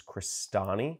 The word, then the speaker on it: Crestani: click search for my last name which is christani i'll spell that out for you c-r-e-s-t-a-n-i it's italian my